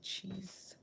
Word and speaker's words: cheese: have CH E cheese the e at the end is silent the same way and the S here is making a sound like Z in some words when